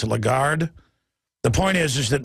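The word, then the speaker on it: Lagarde: exempt from the taxes uh how do you pronounce her name I always say lron but it's legard the point is is that the police have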